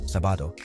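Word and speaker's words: sábado: to last syllable tono sabado Saturday ends in a vowel but the accent mark indicates stress on the first syllable s see how accent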